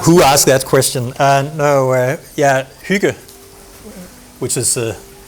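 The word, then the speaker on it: hygge: who asked who asked that question and yeah Hyuga which is how you pronounce it and in Danish yeah to me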